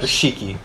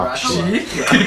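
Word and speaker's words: Rahkshi: I didn't read it right when I was reading the books, so I pronounced it Rashiki. How is it Until actually pronounced? several Rakshi.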